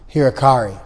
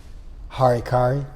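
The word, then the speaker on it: 腹切り: They gave us hirakari, often mispronounced harikari.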